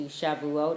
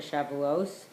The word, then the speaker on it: Shavuot: So today's topic is actually again in relation to Shavuot or Shavuos, how I pronounce it.